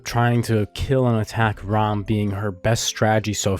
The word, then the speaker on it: Ram: the memes so no not REM ROM I'm not pronouncing it wrong I mean ROM okay all right back